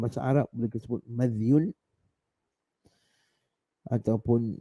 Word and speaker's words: مذي: Sama ada kita sukunkan huruf zal, mim tu kita baca baris atas madhyun, ataupun kita baca madhiyun, ataupun kita baca madhi. Dua-dua tu, ketiga-tiga tu cara bacaannya, pun yang pertama tu lebih tepatlah madhyun, madhi.